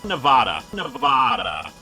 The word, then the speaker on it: Nevada: one more time nevada nevada actually good sir the name of the state in which we call home is actually pronounced nevada common mistake though as a result earl